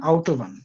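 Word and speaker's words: Autobahn: এটাকে তুর্কির মানুষ অটোবানি বলে কিন্তু এটার জার্মান প্রোনাউন্সিয়েশন আউট ওভবান কিন্তু রাইটিংটা এটা না এটা জাস্ট একটা ধারণা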